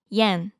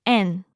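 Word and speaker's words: 円: It's also the Japanese currency, yen. In Japanese, we call it en.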